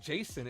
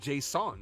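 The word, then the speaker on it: Jasson: up uh Davis says I understand it's not pronounced Jason it's pronounced Json yeah it is Json that's what David asked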